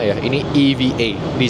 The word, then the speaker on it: EVA Air: Jadi kalau bahasa Inggris ini bukan EVA ya, ini EVA, di spell per huruf. Bukan EVA bacanya, EVA.